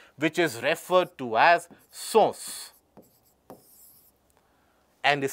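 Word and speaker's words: Susu: The gangetic river dolphin is also ascribed a name, which is referred to as SOS and is spelled as S-U-S-U.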